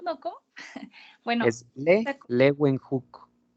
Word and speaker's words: Leeuwenhoek: Ay, la verdad, profe, no puedo pronunciar bien los nombres, pero... No hay De problema. Leo Wenhu, ¿no? ¿Cómo? Bueno, Es Leeuwenhoek. Leeuwenhoek, ok.